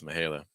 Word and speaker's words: Mihaela: If it just had the H, it would pronounce that as Mihaela.